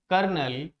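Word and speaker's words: colonel: कर्नल my uncle is my uncle is अ कर्नल कर्नल बोलते समय तो रा निकलता है लेकिन स्पेलिंग को ध्यान से देख लीजिएगा सी ओ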